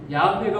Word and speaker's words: 야훼: 내게 나타내시되 여기 여호와 요즘 야훼라는 단어를 좀 이렇게 표현하고 이 발음이 야훼가 우리가 가깝다 그러는데 아까 하란 단어에서 나온 단어가 바로 이 여호와 바로 야훼라는 단어입니다.